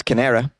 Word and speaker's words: Canara: bank which is called canara bank can pronounce kanera it's almost like canary he asked for 1.6